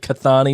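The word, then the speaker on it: Kathani: When he calls it Kathane Sharma. Oh, yeah. Oh, like the actual pronunciation of her real name, not the Yes. anglicized version of her name.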